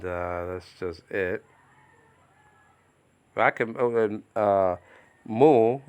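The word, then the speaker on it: μυ: I can, mu, sometimes pronounced meal, nowadays pronounced me.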